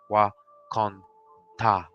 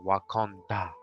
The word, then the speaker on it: Wakonda: In our Osage language, the word for God is Wakonta or Wakonda. I have been told how they pronounce it in the film is exactly how we pronounce it.